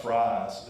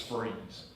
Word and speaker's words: Fries: It's not fries, it's freeze.